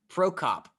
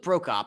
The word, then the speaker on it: Prokop: just in nashville predators prospect lo uh luke pro cop i butchered the first name which ironically is the one that i thought i had the best chance of saying luke prokop on monday became the first active player under